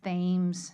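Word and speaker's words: Thames: along the water is you would think TS but if you live in Baltimore it's themes Street sounds absolutely hideous and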